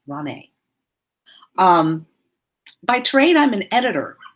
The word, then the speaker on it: Ronei: I get Ronnie a lot, and that's okay too. But it's Ronei. Think of the word neighbor and how the first